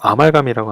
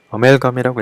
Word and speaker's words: amalgam: 이걸 뭐 아말감이라고 하나요? 예. 예. 어멜감이라고 읽겠죠. 어멜감.